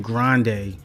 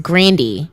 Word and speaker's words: Grande: why are you saying grande like no she wouldn't want to interview and like pronounce her name correctly she said that her name is pronounced grandi wow but people call